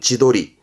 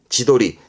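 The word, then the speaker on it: 自撮り: 철 찍는 거 사진을 찍을 땐 도르 그래서 발음은 지도리 지도리 그렇죠 이게 셀카입니다 자기 찍는 겁니다 셀카를 지도리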